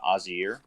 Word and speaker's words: Oyzer: official pronunciation from you how do you say your name uh i mean do you want it phonetically i suppose it would be uh azir uh uh or just or i mean